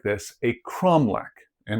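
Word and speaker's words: cromeleque: In Portuguese, it's said cromlech, it's spelled this way. English speakers sometimes look at that spelling and get confused, but the QUEs in Portuguese just makes a k sound.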